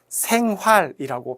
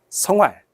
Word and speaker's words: 생활: 왜냐하면 이 학생의 발음이 대학 생활이라고 발음을 하면 좋을 텐데 대학 성활 이런 식으로 발음을 했거든요. 그래서 요 생이라고 하는 요 글자의 발음이 우리의 발음하고는 조금 다르게 그렇게 느껴졌을 가능성이 있습니다.